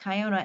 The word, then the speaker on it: Kiona: It's It's uh K I O N A. It's pronounced Kyona. Oh, yep. Okay. Yeah, they um some people say Kiona, but they're but it's pronounced Kayona.